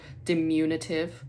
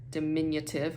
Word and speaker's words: diminutive: like AI so embarrassing or dimunitive when it's diminutive oh my gosh it's